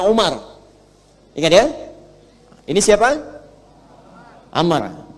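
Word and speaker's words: عمر: Nah, kalau dibaca begini, Amr namanya. Kalau wawunya hilang, bacanya Umar.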